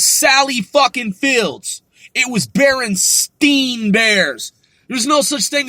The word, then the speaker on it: Berenstain: We're not like, oh, okay, it's like Berenstain, but everyone's like mispronouncing it, calling it Berenstein.